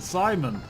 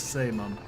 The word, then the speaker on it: Saemon: Oh, he pronounces it Simon. I think it's really pronounced as Saemon.